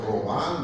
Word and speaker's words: Virchow-Robin: dicho yo a ustedes, si es que nos vamos a Colombia nomás y decimos espacio de Virchow-Robin, ya nos quedan viendo, no, doctor, Robán, doctor. Virchow-Robin, o sea, pronuncian en alemán.